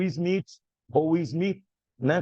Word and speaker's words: Smith: Também o Smith, ou Smith, né, como se pronuncia em inglês, Smith, né, por causa do TH, 1967.